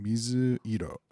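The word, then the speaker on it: 水色: And the reading of this is mizu. I don't know why we use mizu. I don't know why we use this is the kunyomi reading, and so technically it feels like it should be the onyomi reading. Mizu iro. Mizu iro.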